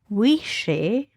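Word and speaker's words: uisce: how you spell it the word whiskey is an anglish anglicization of the classic gayc word wishi wishi mhm which means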